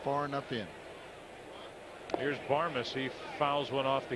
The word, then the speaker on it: Barmes: at their TV saying, say his name right. It's Barmes, and it's out number 2 in the 5th. And there's that nice play by Renteria. He's hustling down the line. Barmes.